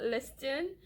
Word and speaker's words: listen: ro word number four are you listening l i ste n it is not listen listen to me no it's not listen it is listen okay li st n isn't listening to me or he is listening it doesn't sound proper so please use listen it does go along with the silent T Rho so those are four